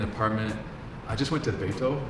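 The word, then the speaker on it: Beitou: I just went to Beito. How do you say it? Okay, Beito.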